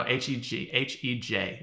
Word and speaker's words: Hej: Oh no, Hej. That's how you say hi in Swedish. Hey. Hey. Because J's are pronounced like with a Y sound, like fjord.